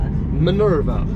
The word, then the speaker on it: Minerva: Minerva.